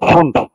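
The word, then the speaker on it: Pfund: Lyman, বামার, পাস্টেন, bracket, ফুন্ড, ফোন বা ফান বলা হয় এটাকে। পি এর উচ্চারণটা হবে না, ফোন বা ফান উচ্চারণ করা হয়।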